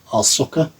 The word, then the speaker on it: Ahsoka: You keep on pronouncing it as ASH instead of AHS, but Ahsoka.